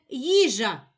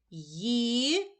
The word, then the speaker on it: їжа: Їжа. У слові їжа два склади. Визначимо наголос. Покличемо слово їжа. Наголошений перший склад.